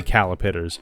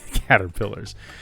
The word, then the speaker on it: caterpillar: And I actively have to not say calipiters every single time I say caterpillars. Even though we read the Hungry Hunger Caterpillar every other night, it is an active effort on my part to say it correctly because of how long I said it incorrectly.